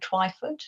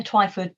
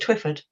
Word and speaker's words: Twyford: well her surname um I didn't realize that people would have a trouble pronouncing it I thought it would be quite easy but a lot even you know English people have called it twifford so it's not even an American thing well why is one of those vowels that you know you can give it different pronunciations so I mean I